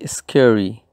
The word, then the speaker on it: scary: como vemos para pronunciar tenemos que hacer acentuación o fuerza sobre la primera sílaba para nikki barry scary ella es muy miedosa